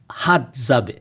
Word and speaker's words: Hadzabe: A very remote, difficult to reach people group, and I believe you called them the Hadzabe. Did I say it right, Williams? Got you. Hadzabe.